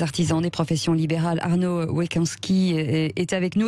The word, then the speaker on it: Weckonski: Arnaud Wekanski est avec nous. Est-ce que je prononce bien votre nom? Oui, bonjour. Bonjour Cécile. Oui, presque. Wekanski. Wekanski, voilà. L'un des 3 dirigeants et